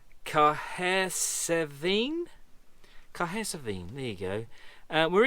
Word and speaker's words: Cahersiveen: And instead, we basically come back through Port Magee and ended up here, which I can't even consider how you pronounce that name. Cahersiveen.